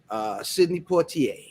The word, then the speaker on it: Sidney Poitier: Sidney Poitier. You got to say it like that.